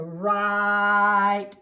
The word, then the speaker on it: write: So it's an R sound, but it's spelled with a W-R.